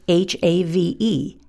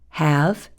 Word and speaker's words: have: the one they recognize the same with h-a-v-e have have then choose the pronunciation they recognize so they need to